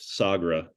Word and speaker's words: Sagra: pronounce the name how was that said it's pronounced sagra okay like what was the day or the